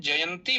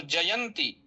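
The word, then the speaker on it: जयन्ती: उसी के बगल में जयंती भी लिखा हुआ है तो जयंती ऐसा नहीं बोलना है जयंती बोलना तकार में दीर्घ इकार है।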